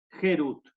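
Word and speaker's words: חירות: Porque dice la palabra Harut, que sería tallado, grabado, sino la misma letra Harut, con una pronunciación distinta, Gerut.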